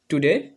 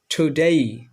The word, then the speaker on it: today: আচ্ছা, 2 নম্বরে আমরা দেখি, আগে আমরা এটা বলতাম টুডে, এখন আমরা এটা বলবো টুডেই, টুডেই, টুডেই।